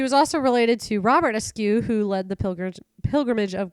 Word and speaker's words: Askew: And Askew? Askew. Yep. Askew, like ASKEW? Absolutely.